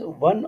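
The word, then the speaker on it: Wii: इट is portable game device, one और more person can play game. Xbox 360 made by Microsoft. वी double आई इसको pronunciate वी करेंगे, made by Nintendo.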